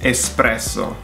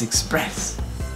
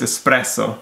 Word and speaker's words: espresso: Most Americans will pronounce that espresso with an X. And again, there's no X in there. Is espresso. But it's express. No, it's espresso.